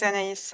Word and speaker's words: Anaïs: My name is Anaïs.